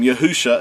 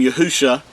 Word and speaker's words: Yahusha: the the mashik's name yahusha this is uh the paleo hebrew and hebrew reads from left to right the first three letters uh are pronounced as yahoo and the last two